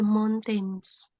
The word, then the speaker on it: mountains: and Elsa love the mountains mountains bukan mountain MS jadi itu Mount ya lebih ke atas gitu suaranya Mount bukan Mount ini kan beda m mountains